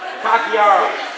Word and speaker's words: Takiara: Takiara. Like tiara, but Takiara.